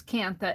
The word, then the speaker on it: kantha: i pronounce it is kantha n with the n she says that n is silent so it would be